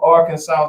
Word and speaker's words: Arkansas: How do you say it? Arkansas. Take out the R.